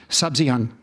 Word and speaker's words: Sabzian: Um, I'm thinking of Sabzian. Is that how you pronounce it?